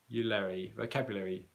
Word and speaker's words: vocabulary: But in this particular word that you've asked about here, vocabulary, I wouldn't pronounce I wouldn't drop the schwa sound.